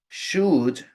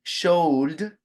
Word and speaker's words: should: Se escriben should, así como LD, should, pero la L es muda, no se pronuncia la L.